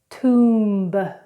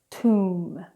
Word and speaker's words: tomb: Now, when we have M and B together in a word, we do not pronounce the B.